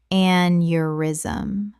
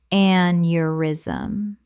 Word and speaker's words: aneurysm: arthritis arthritis Word 64 aneurysm Common mispronunciation aneurysm Correct pronunciation aneurysm Three syllables. The eu makes a yuh sound.